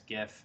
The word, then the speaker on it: GIF: all they are and everyone is just kind of decided as gif even though the guy who invented them said it's not and if you say jiff then they'll be like